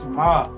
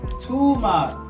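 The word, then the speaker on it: טומאה: I pronounced this stuff Tamar. This don't say Tamar. This say Tumah.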